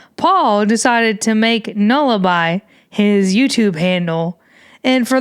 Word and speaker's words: Nullibi: two, I was calling him the I was pronouncing it all kinds of wrong. It's supposed to be Nullaby, and I was all calling him New Leeby, and tons of other YouTubers that tune in